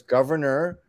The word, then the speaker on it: Gouverneur: There's Governor, which is spelled French, Gouverneur.